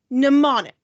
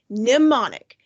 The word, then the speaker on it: mnemonic: the screen is pronounced mnemonic you don't say the m isn't english van it's mnemonic so what is a